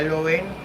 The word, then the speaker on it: Lewin: I also see where the Director of Public Prosecution, Miss Paula Lewin, or Lewin as her name is pronounced, she was also saying, let me read for you what she says.